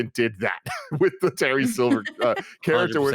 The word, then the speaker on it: Silver: a Chosen versus Terry Silva fight is weird and exciting to me. It's Silver, not Silva. I'm saying it like you would an Italian. Okay, we don't pronounce R's. Okay. That's what that is.